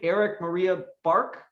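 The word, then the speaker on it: Erik Maria Bark: Of course, I'm talking about, do you pronounce his whole name, Eric Maria Bark?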